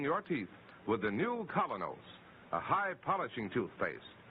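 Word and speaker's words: Kolynos: is start cleaning your teeth with the new Colonos, a high polishing toothpaste.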